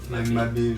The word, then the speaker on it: Mabe: Mais c'est vrai qu'il ça se prononce Mabé, quoi. Ça se prononce pas Mab.